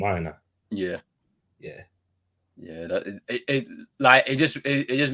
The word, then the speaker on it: Aina: So yeah, Allah Aina is gonna have to be doing that a lot more. Is that how you pronounce his name, Aina?